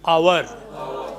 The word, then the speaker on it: hour: Next word is hour. As you pronounce O-U-R. Same. H is silent.